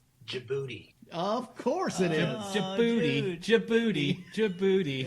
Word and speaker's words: Djibouti: Djibouti. Any place with a silent D has got to be the worst place. Djibouti is the name.